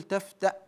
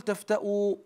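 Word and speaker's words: تفتأ: وقفنا عليها وهذا للتعليم نقول تفتا لا نقول تفتوا لان الهمزه الهمزه مصوره على الواو يعني مكتوبه على الواو فقط الواو لا تنطق الواو لا تنطق لا قل تفتوا عند الوقف وانما اقول تفت بسكون الواو وفيها قراءه عند الوقف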